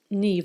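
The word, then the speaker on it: Niamh: me my name is Neeve and Neeve is an Irish name it's pronounced Neeve like NE V but it is spelled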